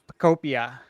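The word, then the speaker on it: Pokopia: Okay, next we got Pokemon Pocopia. Is that enunciation correct? I think it's Pocopia. Yeah, I think it's I said Pocopia. I think it's Pocopia. Pocopia, yeah, like Utopia, like so, like Pocopia.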